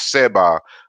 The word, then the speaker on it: seba: was this you know how we pronounce it as seba a seba you know which is